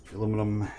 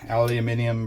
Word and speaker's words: aluminium: able to drain out aluminum aluminium bracket and the screw my European viewers are probably like thank you for saying it right all right let's uh